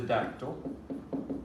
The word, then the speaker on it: dactyl: that right sorry uh is a dactyl sounds like pterodactyl which i think means